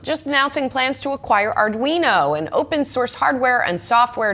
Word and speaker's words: Arduino: Arduino. Arduino. It's Italian.